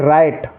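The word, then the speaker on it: write: तो इसको राइट पढ़ेंगे कुछ बच्चे ब्राइट पढ़ते हैं ब्राइट गलत हो जाएगा इसको ओनली राइट पढ़ना है ठीक है अगला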